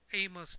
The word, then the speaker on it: AOMS: settings you need to have the a TT pronounced as aamos TT installed on your iPad to start just